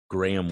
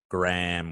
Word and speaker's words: graham: That it's graham wafers, not graham wafers. All right. You should Google it because I'm pretty sure that Google that Google will provide us the proper No. but it's spelled Graham though. The AHA makes AM. Makes the AM. So graham. You just Graham.